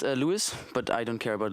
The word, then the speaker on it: Louis: And it's pronounced Louis, but I don't care about Louis, or I'm fine with that.